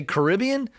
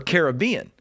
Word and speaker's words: Caribbean: Barbados and I asked I asked the locals James do you say Caribbean or Caribbean and the locals say Caribbean so therefore that's where I'm going that's all that matters you can say whatever you want tomato tomato I'm going Caribbean not Caribbean but tell people about